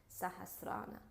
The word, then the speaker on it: Sahasrara: the seventh chakra, which is the Crown Chakra, pronounced in Sanskrit, Sahasrara.